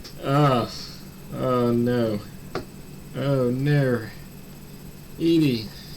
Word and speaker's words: Edie: I was pronouncing it Eddie. I was confused. Like, a grandma's called... Is it possible for a woman to be called Eddie? I was like, what? It's Edie.